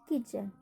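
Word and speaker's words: kitchen: इसी ही match, match, स्विच, स्केच, किचन। बेच, match, स्विच, स्केच, किचन। सभी में क्या आ रहा है, टी के तुरंत बाद क्या आ रहा है, CH। तो हम टी का उच्चारण नहीं होगा।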